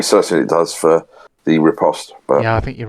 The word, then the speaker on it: riposte: I'm going to do a riposte. Oh, okay. And What's it called? Repost. If you pronounce the T, it is allowed.